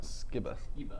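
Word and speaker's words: Skiba: How do you pronounce that? Skibba.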